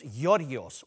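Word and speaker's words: Giorgos: It's Yorgios, or as you guys say, George, because us Greeks, we had to shorten our names so the Aussie kids could pronounce them.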